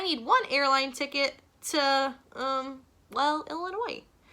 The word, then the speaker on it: Illinois: Yes, my name is Illinois, and I need one airline ticket to, Illinois. No, the S is silent.